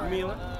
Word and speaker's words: Mila: Mila. That's how you say it.